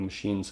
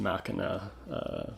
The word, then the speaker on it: Machina: Smashing Pumpkins machinae the machines of God I know it should be pronounced Makana but Billy Corgan himself pronounces it machine so I'll stick with that have to give respect